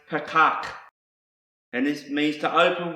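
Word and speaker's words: פָּתַח: another word that's starts with the letter p's pronounce Patak and this means to open wide springing open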